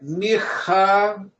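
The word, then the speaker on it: מיכאל: Então a minha pronúncia é Michaeler. Michael. Michaeler. Com a ponta da língua fixando no céu da boca.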